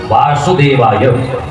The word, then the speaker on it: वासुदेवाय: ओम नमो भगवते वासुदेवाय मंत्र के उच्चारण में बहुत ज्यादा सुधि होनी चाहिए जैसे व और व और वा अब यहाँ पर वा नहीं यहाँ पर वासुदेवाय दोनों जगह वा है व नहीं ये ओम नमो भगवते